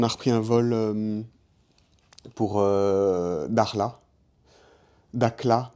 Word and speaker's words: Dakhla: Et de Casablanca, on a repris un vol pour Dakhla. Dakhla, mais ça se prononce Dakhla en marocain, Dakhla.